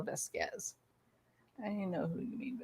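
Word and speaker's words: Vásquez: camille oh very good camille vasquez not vasquez i know e lane says vasquez but that's not how you pronounce it it's camille vesquez i know who you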